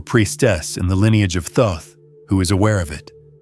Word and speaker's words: Thoth: In that vibration, THOT, pronounced Thoth, is the consciousness that structures and organizes it.